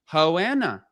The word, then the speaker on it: Joanna: She said no that's my accent. Hoana that's how we pronounce our J's with an H.